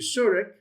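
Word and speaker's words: שורוק: And then you have your suric, which is your long O is in long U is in fruit.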